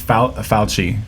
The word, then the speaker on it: Fauci: Yeah, there's no H, but it sounds like it.